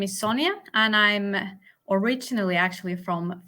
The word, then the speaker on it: Sonja: Sonja, is that pronounced correctly? That's totally correctly. All right. Sonja.